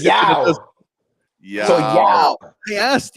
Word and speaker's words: Yaw: It's not y'all. It's Yao. You guys heard of Yao Ming, the basketball Yao player? Ming, yeah. That's how you say it.